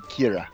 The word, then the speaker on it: Ciara: But it's in Gaelic it would be Kira. Kira. Okay. Welcome to Rome, Kira. Let's begin your story. Alright. So we're calling it Kira. It's spelled like Sierra, but it's Kira.